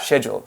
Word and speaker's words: schedule: Schedule. Yeah. Okay, but schedule. I think our students have to remember it's pronounced schedule.